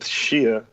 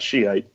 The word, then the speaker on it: Shia: We went with Shia, which I learned is the real pronunciation and not Shiite.